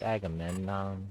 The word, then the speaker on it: Agamemnon: Say my name wrong on YouTube. They say a game. All kinds of ways. It's Agamemnon.